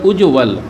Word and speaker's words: उज्ज्वल: ये हो गया उज्ज्वल, ये लिखा हुआ है उज्ज्वल, उज्ज्वल और उज्ज्वल। उम्मीद करता हूँ उच्चारण आप ध्यान से देख रहे होंगे, समझ रहे होंगे।